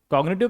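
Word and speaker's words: cognitive: कॉग्निटिव का मतलब होता है ज्ञान संबंधी। देखिए यहां पर भी क्या है? जी के बाद एन है। फिर भी हम जी का उच्चारण करेंगे। Children डिवेप कॉग्निटिव abilities eight an early as.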